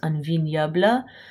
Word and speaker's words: un vignoble: This is pronounced un vignoble.